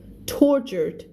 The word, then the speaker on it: tortured: Tortured ทรมานนะคะถ้าเป็นครูเพนสีจะอ่านว่า torturate นะไม่ได้นะ ห้ามนะพี่คูลิ่งบอกว่ามาครั้งแรกครับติดตามแล้วครับขอบพระคุณมากค่ะขอบคุณค่ะน่ารักกันทุกคน torturate ไม่ได้อย่านะจ๊ะ นี่ไงเล่นมากอ่านว่าอะไรวะเอาใหม่แป๊บนึง